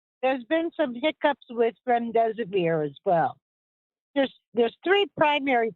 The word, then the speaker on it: remdesivir: Did I pronounce that correctly, Dr. B? Yeah. remdesivir as being a fantastic drug moving forward, fighting against COVID-19.